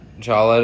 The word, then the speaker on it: challah: Could you use Challah to replace Challah? challah. Thank you. I'm reading it phonetically.